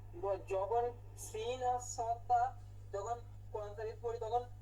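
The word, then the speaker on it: صاد: সদ, সদটাও সহজ। চ, স, স, চ, স, স এর উচ্চারণ। ছয় আপনি আকার না দিনই হইছে। স যেটা হচ্ছে এটাই স, মোটা হয় না স, চ, স। এই উচ্চারণটা করলেই হইলো। এখন আমরা বাংলায় তো আকার দিয়ে পড়ি, স তো শুধু হয় না, কিন্তু আরবিতে এটা আকার না দিয়ে পড়তে হবে।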